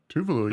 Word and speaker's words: Tuvalu: I'm going to try to pronounce that. Was that Tuvalu? Tuvalu, yeah.